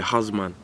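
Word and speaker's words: Ozman: I went out this morning to go to Husman. In a Jamaican twang it would be husman, even though it's not spelt like that. It's spelled O-Z-M-A-N, not H-O-Z-M-A-N, but I saw it go, man.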